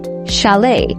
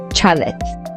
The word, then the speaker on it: chalet: This word is pronounced as chalet and not chalet.